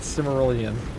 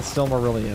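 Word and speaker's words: Silmarillion: Which one is it? the Sylmerelion or is it Simmerelion? The Sylmerelion, I mean.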